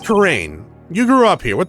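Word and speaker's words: Kurain: Karine? Your Eminence, it's pronounced Karain.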